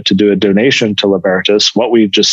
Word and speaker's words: libertas: intro because i'm saying libertas i've called it livertos for years you know everyone says that no